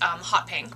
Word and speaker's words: Haute Pink: Actually, I think it's pronounced Hot Pink, but it's spelled Haute Pink.